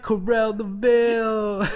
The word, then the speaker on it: Koral Laval: like like are we even saying it right Corell the bille yeah right yeah yeah yeah yeah you saying